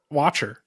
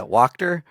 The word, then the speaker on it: Wachter: Watcher, right? Dave Watcher, um Wacchter. Wachter. Ter, yeah, Wachter. The T's in a new and exciting place.